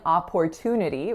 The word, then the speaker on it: opportunity: t is Port but we're not saying opportunity we're saying oper as if it were spelled p r opportunity the next word is